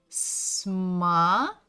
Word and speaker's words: смотреть: Next one is смотреть. Ударение на «е». Смотреть. Смотреть.